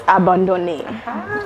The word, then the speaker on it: abandonné: It's abandonné. So, abandoned in Creole, but my inspiration?